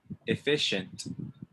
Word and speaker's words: efficient: efficient efficient not efficient efficient usually when you see the c and the i together it makes the sh sound all right efficient repeat